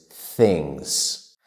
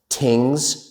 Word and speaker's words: things: So many nonnative English speakers mispronounce that word as tings or sings. But that is incorrect. We need to stick our tongues out a little bit like this.